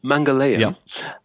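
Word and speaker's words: Mangalyaan: So how do you pronounce the name of the Okay, it's called Mangala uh or usually most people refer to it as the Mars Orbiter Mission or MOM.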